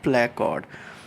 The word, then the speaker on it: placode: I checked again on internet, so it is nasal placode. So anyhow, what happens that from this nasal placode, uh, let me show you again here, let me show you the animation, that these nasal placode, they will invaginate inward, they will grow inward,